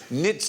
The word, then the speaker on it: knits: the QA where tonight the K is silent as in nits not snackers knobs let's